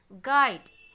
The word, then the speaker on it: guide: If I hide this letter, then also the pronunciation of this word will be guide.